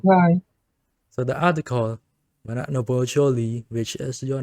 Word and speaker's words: Shuli: Noble Shuli, which is you, your name is Shuli, but in reality it's Jolie. Shuli is just easier to pronounce for us Cambodian.